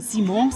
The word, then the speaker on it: Simons: Xavi Simons, I hope I'm pronouncing it correctly, I thought it was 'Simmons,' but it's 'Simons,' right?